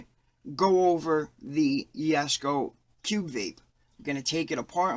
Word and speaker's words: Cubvape: yes go Cube Vape I know it looks like it says Cub Vape but sounds like a little baby name I'm pretty sure it's pronounced Cube Vape here's an overview of